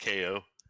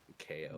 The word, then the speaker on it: Chao: has a CH guarden just pronounced KO Garden it's def defitely not it's definitely not as in chaos yes they are named after chaos but no it's yeah so that's pronounced KO pronounced KO the KO Emerald but